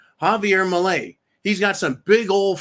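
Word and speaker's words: Milei: the chainsaw Javier Malay I'm going to pronounce his name properly because I should start pronouncing it property Javier Malay he's got some big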